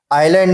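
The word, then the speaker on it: island: आइलैंड में S silent हो रहा है।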